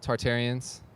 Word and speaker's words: Tartarians: All right, this has been Tom for Utopian Voids out here with Tartarians.